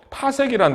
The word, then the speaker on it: 파섹: 그런데 이 발음을 좀 똑바로 해야 돼요. 파섹이란 단위. 그죠? 파섹. 그래서 1파섹 하면은 괜찮은데요. 10파섹 하면 잘못하면 욕같이 들려.